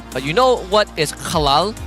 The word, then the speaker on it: halal: It's just halal.